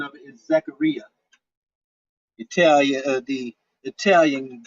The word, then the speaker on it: Zaccaria: hollywood polo now does anyone have those uh zakaria tables on fx3 or on vpx if anybody has vpx and i've been saying today a lot of us percent name incorrectly the the pronunciation of it is zachariah you tell you the italian brothers zachary you